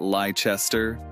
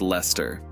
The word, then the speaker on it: Leicester: trip up on leicester it's not lachester it's leicester same with worcester becoming